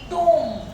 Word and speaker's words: tomb: अगर एम बी साथ आए तो बी साइलेंट हो जाएगा। भाई अपन कहते हैं TOMB, टूम, ब साइलेंट है।